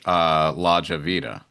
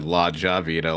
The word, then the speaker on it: Lahjavida: I think I said Lahjavida last time. That's all right. Lahjavida. I've created a name that no one can pronounce.